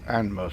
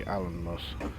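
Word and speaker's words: Alnmouth: So, well, the last video I called it Anmus, but I have it on good authority. It's actually Allenmus.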